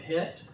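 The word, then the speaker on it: חית: uh studied the word het it's spelt c-h-e-t like czech but it's called het and if you haven't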